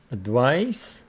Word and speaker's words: advice: noun and the second one it's a verb advice advise okay that is for the sake of